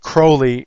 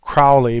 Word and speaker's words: Crowley: and you see uh he wanted his name actually pronounced crowley instead of crowley because he wanted to rhyme with holy and i don't want